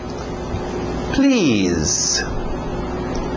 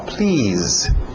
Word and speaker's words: please: Please. Please. Som de Z aí no final. Please.